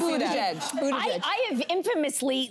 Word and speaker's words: Buttigieg: I saw butt. I did see butt. It is Buttigieg.